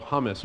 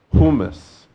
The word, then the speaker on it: hummus: how to pronounce uh in the United States we love hummus but now I learned that is not the way you say it humus I've learned now so let's switch into